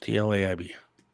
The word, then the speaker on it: Tlaib: How do you spell it? Tlaib, is that right? Yes. Tlaib.